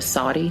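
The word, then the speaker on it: SODDI: Saudi defense is I'm I'm going to spell it because it's it's not how you think it's and it on G line is always funny whenever they say it they put it up on the TV and they spell it out it's s o d d i some other dude did it it sounds familiar yeah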